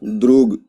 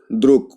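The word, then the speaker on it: друг: ये क्या है, द्रुग, द्रुग। लेकिन जब प्रोनाउंस करेंगे तो क्या हो जाएगा, द्रुक, द्रुक, द्रुक।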